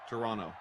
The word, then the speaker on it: Toronto: Monster says, and we're about to find out, Koff, do you pronounce the second T in Toronto? I do not. Toronto? Toronto. Yeah, no second T.